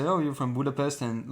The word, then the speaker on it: Budapest: we're in Hungary we're in Budapest right now Budapest that's how you pronounce them really you didn't say Budapest no